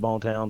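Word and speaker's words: Boone Town: it yeah um but all of us rednecks around here have called it bone town since Inception so it's bone Town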